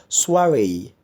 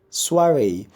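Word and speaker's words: soirée: is SOI ar e it's a French word it's bananas soiree soiree Eswari is an evening party where people get together and it gets music and conversation drinks and all that soiree so I can see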